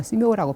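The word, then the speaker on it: 寺庙: 한국말로 사묘고 중국말로 스묘라고 발음을 하는데 도교 사찰인지 불교 사찰인지 구별이 안 될 때가 있어요.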